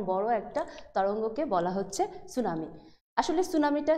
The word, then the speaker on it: সুনামি: আসি সুনামি সুনামিটা কি সুনামি শব্দটা হচ্ছে জাপানি একটা শব্দ যেটা আমরা যদি ইংলিশের স্পেলিং দেখি তাহলে কি হবে স্পেলিংটা হচ্ছে টি এস ইউ এন এ এমআই এটাকে বাংলায় আমরা উচ্চারণ করি সুনামি সুনামিটা হচ্ছে অর্থ যদি